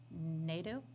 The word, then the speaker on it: Nadeau: Nadeau, If, my husband told me if you say it like meadow, but with an Meadow.